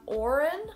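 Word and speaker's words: Odhrán: say soldier i say shoulder then we have orin which is spelled in yeah two different way two different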